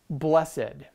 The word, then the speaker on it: blessed: word that is spelled b l e s s e d now if you are a shakespearean actor you may pronounce this word as blessed however for everybody else it is just blessed okay so with that